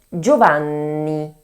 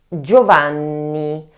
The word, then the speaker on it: Giovanni: The double N must be pronounced in a way more strengthened than a N alone, that's why we need